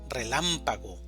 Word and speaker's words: relámpago: Relámpago, división silábica. Relámpago. Sílaba tónica. Lam. Relámpago.